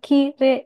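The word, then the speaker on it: きれい: Nah, ini kalau untuk kosakata ki re i karena ada huruf e dan i yang berjajar dibacanya itu e panjang kire.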